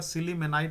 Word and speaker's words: sillimanite: अगला जो है आपका सिलीमेनाइट, जिसे आप बोल सकते हैं, यानी स्पेलिंग आप ध्यान दीजिएगा, SILLIMANITE, ठीक है ना।